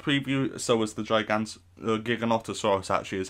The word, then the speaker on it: Giganotosaurus: in this short preview so was the gigans giganotosaurus actually is how it's pronounced and the dreadnaughtus we've seen this we've